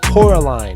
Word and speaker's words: Coraline: Yes, Coraline, I believe it's how you say it.